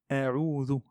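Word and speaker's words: أعوذ: Ça, c'est un zel et pas un zay. Donc, il faut faire attention. Il ne faut pas changer les lettres du Coran. Donc, za et pas za. C'est comme le the de l'anglais. C'est la même chose. C'est le même point d'articulation.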